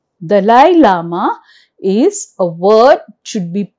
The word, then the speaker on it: Dalai Lama: So, Dalai Lama, Dalai Lama is a word should be pronounced and we should spell it also correct.